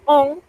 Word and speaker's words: on: Porque on es un sonido nasal.